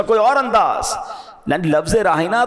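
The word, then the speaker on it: راعنا: और अंदाज यानी लफज़ रायना तो वो भी कहते थे मगर वो उसका प्रोनाउंसिएशन चेंज कर देते थे वो क्या कहते थे राईना या लगा देते और लंबा कर देते उसको तो राई का मतलब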